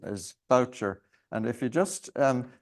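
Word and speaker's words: Bourchier: but I discovered in Bulgaria that the correct pronunciation is voucher and if you just um look at the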